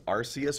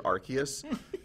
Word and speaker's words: Arceus: The one that bothers me the most is Arceus or Arceus. The anime pronounces it Arceus, but that's definitely a soft C.